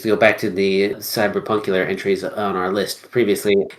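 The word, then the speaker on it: CBR+PNK: I would use to go back to the cyberpunk entries on our list previously is a game it's called I'm going to pronounce it cyber punk but it's spelled CBR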